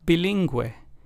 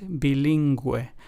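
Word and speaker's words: bilingüe: again pinguino and bilingu so as we can hear the U with the two dots diasis accent mark in Spanish helps us give that gu or gu sound and pronunciation in words in pinguino it would be the GUI sound and then in bilingu it would be the GU sound the last of the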